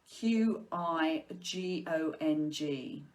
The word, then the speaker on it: Qigong: So the Qigong is Qigong. Some people spell it Chigung, I think, but if you look